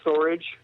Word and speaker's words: Storj: I guess um after talking to people who work at storage, they pronounce it or they pronounce it storage even though it's you know s o rj.